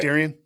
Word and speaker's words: Darien: But you grew up only 30 minutes outside the city in Darien, Illinois. Am I pronouncing that right? Yeah. Darien?